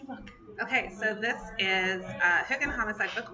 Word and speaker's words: Hygge: This is her alternate ego, and this is her new book, Hygge and Homicide, not Hygge and Homicide, as I've been pronouncing it for the last year as she was writing it.